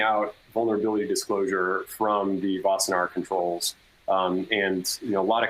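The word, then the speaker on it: Wassenaar: no i i assume that this is about vasanar um and i don't know if you've kept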